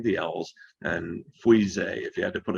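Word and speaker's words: Fuissé: Try not to butcher it too much, but Pouilly, no pronouncing the L's, and Frisé, if you had to put a W in there, and 2 E's, Frisé.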